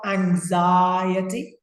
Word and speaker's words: anxiety: Notice how I say the word, anxiety. Anxiety. In class, yesterday with Ines, we spoke about this. It's a long I sound. Anxiety. So anxiety. Anxiety. Fantastic. Like society.